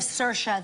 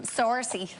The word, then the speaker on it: Saoirse: people tend to look instead of sercia they say well sorcy like the like it says in the monologue sorcy or say her eyes is a popular one um i mean anything